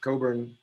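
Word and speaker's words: Cockburn: but not everybody knows it's pronounced coburn with a silent ck that's a scottish name and we've got scott here and sat on others to get it right and we actually have craig coburn on here also so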